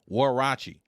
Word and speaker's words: Huarache: It looks like Huarache or Huarache. What does that word mean? Actually, it's from, I want to make sure I pronounce this right, Huarache, which translates in English to sandal.